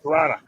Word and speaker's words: Toronto: It's like Toronto. You don't pronounce pronounce the second T. Toronto.